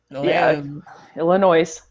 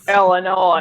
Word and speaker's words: Illinois: Illinois. Illinois. They don't pronounce the S is silent. I don't know why it's there, but it's silent.